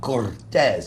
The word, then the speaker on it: Cortez: love the way he says it with the little special pronunciation, Cortez. He rolls the R, which I like.